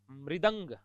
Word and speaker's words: मृदंग: मृदंग, मृदंग, मृदंग, मृदंग। ठीक है, अब आप देखना इन शब्दों को। अब इनमें उच्चारण गलत कर देते हैं अपन, इसलिए ये त्रुटियां होती है।